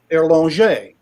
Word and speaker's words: Erlanger: And and we call it Erlanger. The name is pronounced Erlanger.